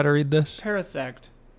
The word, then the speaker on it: Parasect: Parasect. Pronounce Paris like the city and sect like the religion.